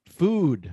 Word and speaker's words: food: were saying beautiful beauty remember remember that food doesn't rhyme with good yes it doesn't rhyme with with good it doesn't rhyme food doesn't rhyme with good it's food with a u sound